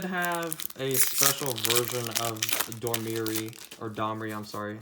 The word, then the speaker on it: Domri: Domri, or Domri? That's how you pronounce that.